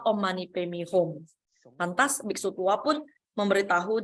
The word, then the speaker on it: Om Mani Padme Hum: Nenek tua malah membaca Om Mani Padme New. Ya, dia bacanya Om Mani Padme New. Dan biksu tua itu mengkoreksi, nenek kamu salah baca. Yang benar itu adalah Om Mani Padme Hum.